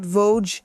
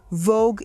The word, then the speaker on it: Voge: the company's name correctly, which is not Voge, Vogue. Vogue is the magazine. And I asked the company's advisor Maristela what it was, the correct pronunciation.